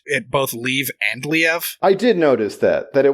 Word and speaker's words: Liev: Then after she said Leave a few times, because it's Liev Schreiber. Yeah. After she says Leave a couple of times, then she says Liev.